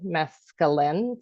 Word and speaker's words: mescaline: Well, that's how I'll know how to say it, Lynn, is I know that Lynn has done mescaline, so it's Lynn at the end, mescaline.